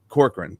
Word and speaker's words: Corcoran: Corcoran.